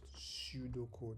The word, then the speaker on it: pseudocode: Algorithms are written in pseudocode, pronounced pseudocode, because an algorithm is a high level solution to a program.